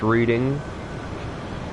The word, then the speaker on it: Reading: That's pronounced Reading.